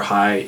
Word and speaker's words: Hey: Hey, H-E-Y, spelled like hay, pronounced high.